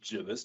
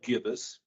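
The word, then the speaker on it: gibbous: later jbus I looked it up is actually pronounced jbus not gibbus uh it means kind of fat so this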